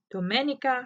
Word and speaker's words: Domenica: woods in a river my name is pronounced in the Italian Way Dominica domenica it's a